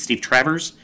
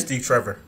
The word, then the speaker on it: Steve Trevor: Is it Steve Travers? Is that how you say it? Steve Trevor.